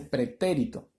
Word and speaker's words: pretérito: o pretérito nos dice pretérito ahora la mayor fuerza de voz está en la antepenúltima sílaba lo que la hace